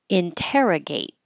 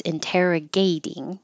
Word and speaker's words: interrogate: po Point together and interrogate interrogate hold the t and if it's interrogating the stress I put gay interrogating it stays on te interrogating and for the person interrogator interrogator the t is going to change to a d tolerance tolerance and tolerate